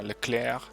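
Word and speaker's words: Leclerc: into a position on my Leclair to use the French pronunciation hello there's a luck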